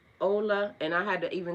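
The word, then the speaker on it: Ole: I wanted to say Olay like literally cuz it is O L E. And I went and looked at his video. He said his name is pronounced Ola.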